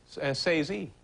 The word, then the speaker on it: Scorsese: Scorsese. Martin Scorsese.